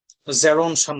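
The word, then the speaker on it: Gerontion: জেরন শান নামে একটা কবিতা আছে ওনার, এইটার উচ্চারণ হচ্ছে আপনার জেরন শান, এটা খেয়াল করবেন।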